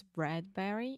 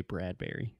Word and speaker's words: Bradbury: wrote a lot of I'm sure it's Bradbury in that bread Brewery like Burberry it's not like Burberry perhaps if you were speaking in British English or something you pronounce it differently but I've always said Ray Bradbury okay yeah hey Ray